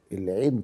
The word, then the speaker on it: العين: واخد بالك صنايعيه التلاوه كانوا يحررون العين العين ديه بننطقها احنا كده اهو لكن هم لا ده يعني يعني يعني هو حتى في الاخر وبيقول صدق الله العين طالعه من جوه من الحلق زي ما تكون ايه